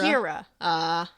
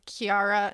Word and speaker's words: Ciara: pronounce the one that's the people whose name is spelled Ciara instead of Kiara. Is it Kira? Kira. And I should have known that. I took 2 different sources, and somebody called them Kiara and somebody called them Kira.